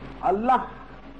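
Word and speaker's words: اللهُ: बंद कर लें और अल्लाह का उच्चारण करें। अल्लाह का उच्चारण भी सिर्फ अल्लाह नहीं, अल्लाहू, ठीक उसका जो उच्चारण है अल्लाहू, हू पर जोर होना चाहिए।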